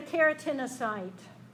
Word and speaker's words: keratinocyte: pronounce it that way how do you want to print out something that's built on the word keratin to me that's a keratinocyte but I you know I